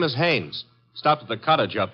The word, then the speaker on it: Haynes: warf fishing so I you say his name is hannes h a i n e s oh oh haes yeah do you know